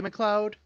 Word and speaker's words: McLeod: And then it's BJ McLeod. Is that how you pronounce his last name?